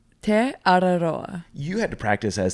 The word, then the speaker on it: Te Araroa: It's Te Araroa.